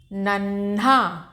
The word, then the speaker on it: नन्हा: नन्हा, आधा ना हल्का सा धीरे से ना बोला और हा का पूरा स्पष्ट उच्चारण, नन्हा।